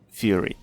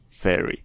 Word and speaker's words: Fury: And I know my pronunciation can be wacky, but I mean Fury, not Fairy, or Fairy. There's a difference.